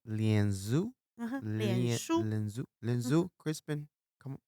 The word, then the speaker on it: 脸书: 脸书. Lianzu?